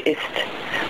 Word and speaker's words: ist: Because it's spelled with a T at the end. So the German word is actually ist. But, if you speak it quickly, it's not very emphasized. But that's the reason that it's not a Z sound.